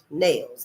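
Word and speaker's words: Nailles: Now, Charles Niles is spelled N A I L L E S. Nails. Nails.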